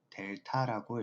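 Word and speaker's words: Δ: 세모하고 x를 표시해 줍니다 이걸 설마 세모라고 읽지는 않겠죠 이걸 읽을 때는 델타라고 읽어 주시면 됩니다 자 그래서 델타 x라는게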